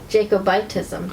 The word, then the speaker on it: Jacobitism: Jacobitism, is that how you say it? Jacobism? Yeah. Or is it Jacobitism? Jacobitism.